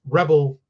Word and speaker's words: Rebelle: Now, and it's Rebel. It's spelled Rebelle, female Rebel.